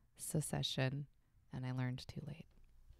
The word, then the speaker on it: secession: the show succession but it's not succession it's secession and i learned too